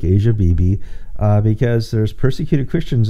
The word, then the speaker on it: Asia Bibi: uh i and there's lots of different ways to pronounce her name asia bibi is how i pronounce